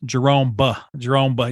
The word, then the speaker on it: Jeromb: the B's not silent. Jeromb. You want to hit I hit the B at the end.